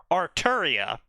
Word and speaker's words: Arturia: they so so basically her name is actually pronounced with a Japanese accent in English arturia but because they can't [